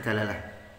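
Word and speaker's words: دلالة: Ada yang baca dilalah, ada yang baca dalalah. Orang Indonesia biasanya bacanya dilalah. Orang Arab biasanya bacanya dalalah. Tak baca dalalah baik.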